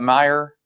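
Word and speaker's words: Meijer: Did you pronounce that? Meyer.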